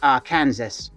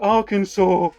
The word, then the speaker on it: Arkansas: I'd probably start in the south, somewhere like Arkansas. Skeletor! What, Spirit of Whiplash? It's pronounced Arkansas.